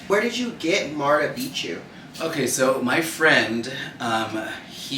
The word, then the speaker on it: Beatchu: But anyways, he had said, let's call you Martha Beatchu, like it rhymes with Machu Picchu, and I was like, okay, but no H, I'm not white.